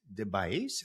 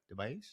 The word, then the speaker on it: DeBiase: My guests today are Alex and Kate DeBiase. Did I say it right? DeBiase?